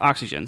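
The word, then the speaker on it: Oxygene: looks like oxygen um but it's pronounced oxygen so o x y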